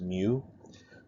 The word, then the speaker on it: mu: This symbol right here is a lowercase m in Greek, and it's pronounced mu.